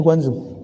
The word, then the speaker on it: Guangzhou: Benar bacanya Guangzhou.